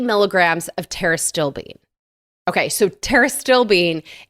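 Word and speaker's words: pterostilbene: of terbine okay so teris still Bean is spelled with a PT you know like pterodactyl so one of my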